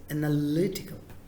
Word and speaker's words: analytical: Now the third word, third syllable, third part, stress it. Simple technique. So this analytical. Same. Analytical. Not analytical. Not analytical. Not analytical. Not like that. It is analytical.